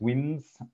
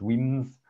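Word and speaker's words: Wemyss: And so that's Weems, so Weyss, pronounced Weems.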